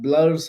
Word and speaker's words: Blure: emails what's the name of that yeah that's blur emails how do you spell it blur b l u r e blur